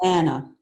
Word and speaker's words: Ana: of longings is about a young woman named Anna or is it honor what's the right pronunciation I've just been reading it Anna okay I'll say Anna Anna who becomes the